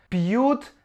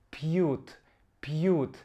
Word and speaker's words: пьют: Пьют довольно трудное слово. Давайте вместе его проговорим. П, мягкое, п. Пьют.